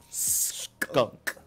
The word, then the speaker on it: Skunk: And it has to be pronounced like that. Skunk. Like emphasis on the K.